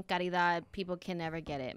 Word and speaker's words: Caridad: Karida. Wait, you're not saying the D.